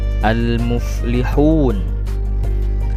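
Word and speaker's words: المفلحون: yang Hauna artinya mencegah almuflihun almuflihun membacanya Jangan Ale tapi Al muflihun Al muflihun yang artinya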